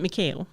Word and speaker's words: Mikael: And they pronounce it Mikael Blomkvist in the movie.